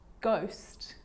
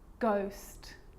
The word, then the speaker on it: ghost: With a G, ghost, ghost.